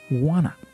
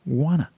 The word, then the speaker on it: wanna: But the normal pronunciation, the pronunciation that American people will use more frequently, is wanna. I wanna. So they link the sounds of want and to, and they say wanna.